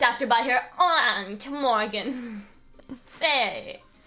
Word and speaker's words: Fey: Faye. That's how it's pronounced culturally in Karine Village.